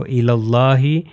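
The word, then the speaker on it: إلى الله: سکتے ہیں اس کو الی اللہ، یہ دیکھیے یہ یا بھی جو ہے تلفظ نہیں ہوگا، یہ الف بھی تلفظ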